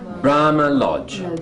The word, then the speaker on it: Brahma Lodge: Brahma Lodge. Bra. Lodge. You're both correct. It is. This is the strong one, and this is the strong one. And there we go. Okay. Brahma Lodge.